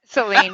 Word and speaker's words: Sahlin: Sahlin.